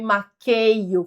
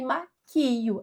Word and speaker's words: maquio: Não é eu não me maqueio, como muita gente fala, é eu não me maquio. Essa é a forma certa.